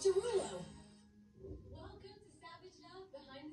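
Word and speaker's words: Desrouleaux: is spelled D-E-S-R-O-U-L-E-A-U-X, which is still pronounced the same as Derulo.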